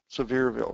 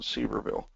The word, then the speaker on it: Sevierville: Sevierville, not Seaverville. You guys pronounce it wrong.